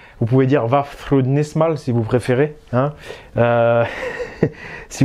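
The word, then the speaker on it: Vafþrúðnismál: Donc la prononciation, vous pouvez dire Vafthrudnismal si vous préférez. Hein. si vous voulez, le Thorn, c'est le TH à l'anglaise.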